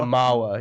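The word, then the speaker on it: manhwa: Oh, it's a Mawa.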